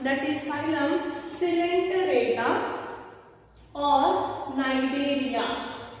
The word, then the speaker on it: Cnidaria: So let us study about the second phylum, that is phylum Coelenterata or Cnidaria. C is silent, students. C-N-I-D-A-R-I-A, Cnidaria or Coelenterata.